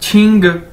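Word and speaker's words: 七: कि ये क्यू है, चाइनीज के अंदर क्यू को 6 से प्रोनाउंस किया जाता है। छतरी वाला जो 6 है, क्यू को इस तरह से बोला जाता है। तो क्यू आई यानी छी, ठीक है।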